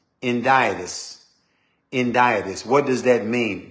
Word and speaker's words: Hendiadys: It's a word that you pronounce, it's spelled H-E-N-D-I-A-D-Y-S, Hendiadys.